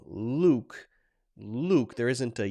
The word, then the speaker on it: Luke: It's not exactly the same for you, for example, Luke, my name, is pronounced Luke, so there's not a y there.